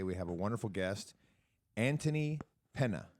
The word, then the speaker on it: Antony Penna: We have a wonderful guest, Antony Penna. Did I pronounce that correctly? You're the first one to make it correct, yes.